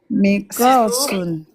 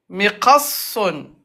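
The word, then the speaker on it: مقص: Mikosun. Mikosun. Ne prononce pas. Mikosun. Miqassun. Mikosun. Miqassun. T'appuies sur sad. Ok. Mikosun. Non. Miqassun. C'est sad où il faut appuyer.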